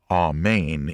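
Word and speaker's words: אמן: firm steady or trustworthy it is pronounced ah main in hebrew and was translated into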